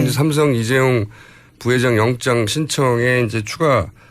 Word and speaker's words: 이재용: 최순실 씨가 이재용 부회장 이름을 이재룡이라고 주로 발음한답니다.